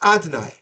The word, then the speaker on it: Adonai: You say Yud Kei Vav Kei, which is pronounced Adonai, Adoi with a noi.